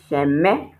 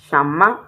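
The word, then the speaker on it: 什么: you say a lot of you also say sheme I hear Shema a lot it's not sheme it's shama you call this like it's a and you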